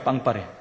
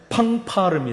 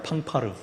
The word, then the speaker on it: 팡파르: 동원해 갖고 파리라고 하죠 빵파레 원래 정확한 발음은 팡파르 팡파르 그런 것을 연주하는 것을